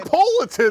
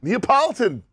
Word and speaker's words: Neapolitan: is about- I don't know how you say it. Napolitan. I'd say it's wrong.